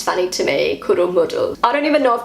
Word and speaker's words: Kuddelmuddel: chaotic, muddled up situation, and this word is kuddelmuddel. That's how I say it. I don't know if I pronounced that right. This is the German pronunciation from Google. Kuddelmuddel.